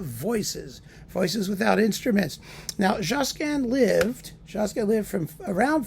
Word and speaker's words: Josquin: want to pronounce him Josan everyone just calls him jasan it's like calling him Fred it makes him more kind of you know homey and friendly life two polyphonic masses